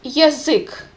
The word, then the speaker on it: язык: Язык means language, and be very clear how you pronounce this first letter ya. Originally it's ya, but it's without the stress, that's why it's reduced. Язык, kind of ye sound instead of ya.